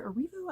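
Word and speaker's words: Erivo: another main character uh Cynthia arivu I believe her name is pronounced um I don't think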